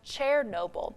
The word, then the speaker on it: Chernobyl: The site of the worst nuclear accident wasn't in Chernobyl. It's actually pronounced Chernobyl.